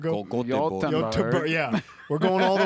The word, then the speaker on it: Göteborg: don't know how they say it in Swedish, Göteborg. Göteborg.